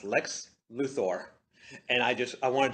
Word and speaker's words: Lex Luthor: okay yeah and in that entire show it's pronounced Lex Luthor and I just I wanted to hug my